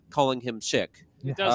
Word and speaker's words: Sikh: The religion is Sikh. That's how you say it. Yeah. No, some people say Sikh, and it it's makes wrong. it. Yeah. It's wrong, but it also makes it